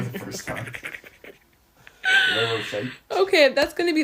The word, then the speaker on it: Ferrero Rocher: Rochero Refreeze. What? Is that even like what was that? I don't know how to say them. Rocheros? Ferrero Rochers or something.